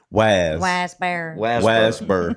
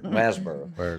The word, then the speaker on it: Waresboro: TW was the only one who had his own place out in Waresboro, which natives of Waycross would pronounce Wasboro. Wasboro.